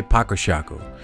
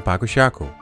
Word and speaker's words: Paco Ŝako: the name batzer Shaco In fairness we often say pakoshako as explaining the differences and the pronunciation on fairs became a full-time job and people kept on seeing pakushako I guess it has